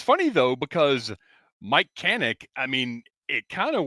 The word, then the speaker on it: Kanik: strange my whole life everyone always called me canic and like everyone knew how to say the name properly it was and then